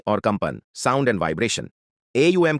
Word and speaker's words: ॐ: AUM का उच्चारण अ, उ और एम ध्वनियों से मिलकर होता है।